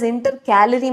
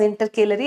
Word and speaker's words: intercalary: Actually this intercalary meristem is correctly pronounced as intercalorie meristem but my teacher taught it as intercalary and that is how I will teach it.